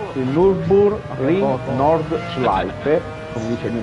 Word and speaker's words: Nürburgring: Mi dici per piacere una volta come si pronuncia giusto? Cosa? Dai, è sempre quello che ti chiedo, il Nürburgring. Nürburgring.